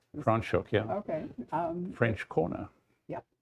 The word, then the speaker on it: Franschhoek: wine when we were in, I never can pronounce this right, Franschhoek? Franschhoek, yeah.